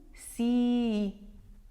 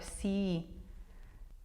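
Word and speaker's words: sii: Yes, you do have a double I at the end and you have to pronounce both I's. Tu si. Can you hear it? It goes a little bit longer. Si.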